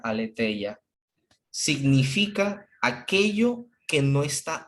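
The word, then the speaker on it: ἀλήθεια: que aquí está en griego entre paréntesis se pronuncia aletheia significa aquello que no está oculto lo que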